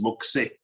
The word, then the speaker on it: Moxé: Is the name is Moxé. Is of course a fantasy name, but can give the sound of something moving.